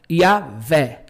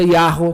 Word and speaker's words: Yahweh: Porque o Vav faz o som do V, o Rei faz o som do E. É, né? Yahvé. Então, é possível Yahvé também. Só que eu, na minha pesquisa, eu prefiro essa pronúncia Yahweh, que eu vejo que tem mais possibilidade. Agora, eu vou falar uma coisa para você. Quem fala Yahvé não está no caminho errado.